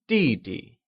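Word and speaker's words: 弟弟: line younger brother translates to DD which is pronounced using the following tone let's try and say DD good we've covered all the vocabulary for today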